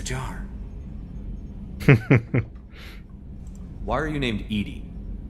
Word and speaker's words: EDI: airlock is a jar why are you named Ed Ed is the phonetic pronunciation of Eed d i that is an